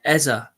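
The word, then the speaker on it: Eze: going to have to get used to saying Eza because he he actually done a he done a little um intro video saying that's how he pronounces his name. So going to have to stop saying Ez.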